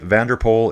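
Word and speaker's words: van der Poel: Doug saying, if you want a pronunciation tip, Vanderpool is pronounced like English Vanderpool.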